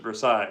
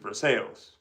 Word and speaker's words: Versailles: For example, in Indiana we have a Versail Indiana, but we don't pronounce it Versailles. pronounce it for sales because Indiana I I don't know.